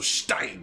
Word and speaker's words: Stein: languages i don't know stein got it don't have to say it like that though right let's say it kind of like stone yeah stone not rock yeah that makes sense yeah so stein there we go we